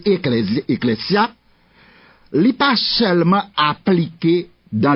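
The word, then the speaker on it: ἐκκλησία: grec eclésia alors en prononcer bien ecclésia c'est qu' s doit prononcer parce que est-ce deux voyelles dans grec pas pas prononcé comme Z il écrit ça dans grammaire grecque pas prononcer la lettre S entre de vo comme si c'est encore en français c'est pas comme ça ça raison et pas raison donc c'est ecclésia il pas seulement appliqué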